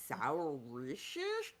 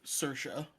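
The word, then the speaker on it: Saoirse: I read it first, and I was like, Saorise? Yeah, Like, somehow it fuck is spells this? Sersha.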